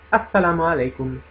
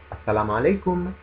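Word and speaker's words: السلام علیکم: Molto semplice da pronunciare anche questo perché pur essendo un prestito arabo, ha perso quella sonorità tipica dell'arabo che è tanto difficile da pronunciare per coloro che non siano di madrelingua araba. E sto parlando proprio della consonante Ain, Ain.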